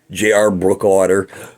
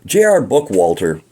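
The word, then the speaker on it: Bookwalter: him Amy Lynn best J.R brookwater J.R book Walter sorry I mispronounced your name the first time he did the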